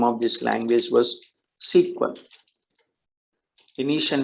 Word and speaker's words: SQL: to sql but still it should be pronounced as sequel okay now originally increased